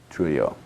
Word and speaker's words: Trujillo: his assassinations of DM, and I think it's Trujillo is how it's pronounced. Trujillo, thank you.